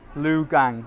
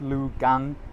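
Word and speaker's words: Lukang: old Street and it's lugang it's spelled l u k a n g but when you say it it's Liu gang it sounds like a g not a k so if you want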